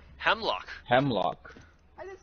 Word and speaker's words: Hemlok: That's the first time I heard someone say Hemelok. How do you say it? Hemlock.